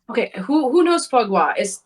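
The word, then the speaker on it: foie gras: to try it it's okay who who knows fwa is f o i e g r a s so it's spelled Foy grass okay Foy grass sort of but it's it's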